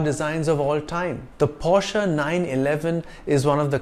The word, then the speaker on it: Porsche: cars SUVs and sedans it's not pronounced Porsche but Porsche this brand got its